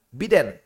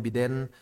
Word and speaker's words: Biden: bingung ya biden atau biden lah ya serah di Indo seringnya umumnya biden tapi sebenarnya cara bacanya biden ya okelah pokoknya dial